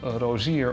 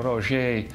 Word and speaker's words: Rosier: The dealership I was referring to earlier, called Rosier or Rosier, depending on the pronunciation, whether it's a French or a Dutch pronunciation, this dealership imported many